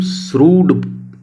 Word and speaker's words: shrewd: ना, बताया था, और इसकी प्रोनाउंसिएशन भी बताई थी कि इसे हम श्रूड बोलते हैं, ठीक है।